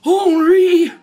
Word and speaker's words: Henry: name oh uh yeah hry it's spelled like Henry but you don't pronounce the h Oh I thought you